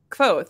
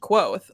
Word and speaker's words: Kvothe: point, where they're like, it's Kvothe, like it rhymes with Quoth, like Quoth the Raven. And so then some people think that means that his name is pronounced Quoth, like the literal word. And I'm like, no, I think it means that it's like rhymes with it, like Kvothe.